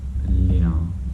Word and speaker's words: lina: Lina.